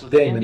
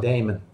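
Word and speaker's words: daemon: It's pronounced Damon. Activity monitor. It's Damon. Indians won game three. Yep. Okay. Yeah, it's pronounced Damon.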